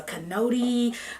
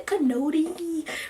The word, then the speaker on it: Kinoti: have you here today my American friends call me Cano D my Kenyan friends call me no T it doesn't matter how